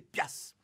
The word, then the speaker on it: piastre: ou de cent mais de piastre prononcé Pias et dessous sympathique survivance